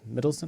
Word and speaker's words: Mikkelsen: Did they keep Mads Mikkelsen?